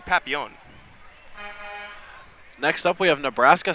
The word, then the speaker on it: Papillion: city many people are many of the French got mad when they realized that we pronounced it wrong it's technically Papillon next up we have